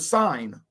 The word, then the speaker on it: sign: Now get this word, sign. Sign. Someone write the word sign for me. S-H, I mean, S-I-G-N, write the word in, sign. S-H, don't write shine in. Silent letters, absolutely.